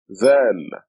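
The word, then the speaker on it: ذال: This is dhal. We write it like this. The name of the letter is dhal, and it is represented by DH. It sounds like TH as in then.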